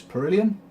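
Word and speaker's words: Perihelion: of later design boxes it's per iliyan that's how you pronounce it got an amazing introduction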